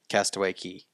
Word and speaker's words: Castaway Cay: Castaway Key. Key. They call it Key. I know even it's though Key, but it's spelled C-A-Y. C-A-Y, which is K.